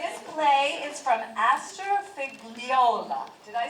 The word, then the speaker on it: Figliola: Okay, this play is from Astor Figliola. Did I say it correctly? Yeah. Yeah, Itch? You can correct me. I love to be corrected. Figliola?